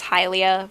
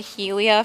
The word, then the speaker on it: Hylia: I know that the pronunciation is Hylia, but I've said Helia for as long as I can remember, so I'm just going with Helia.